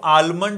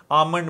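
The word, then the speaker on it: almond: milk एंड आमंड milk इसको आलमंड नहीं बोलना आल एल साइलेंट है आमंड मिल्क तो फिर देखो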